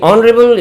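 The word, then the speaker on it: honourable: एन क्यों लेंगे क्योंकि नरेल इज an adjective beginning with the sound of अवाल ओ H silent here you आर not getting the sound of H consonant rebel rebel इ beginning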